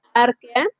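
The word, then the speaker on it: Archaea: más antiguas, por eso se llama arquea o archea, pero se pronuncia arquea.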